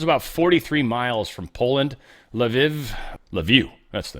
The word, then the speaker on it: Lviv: Lviv, that's the name of that one. Lviv.